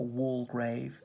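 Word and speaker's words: Waldegrave: have been there was the earl walter grave a wall grave you how you pronounce it if you're really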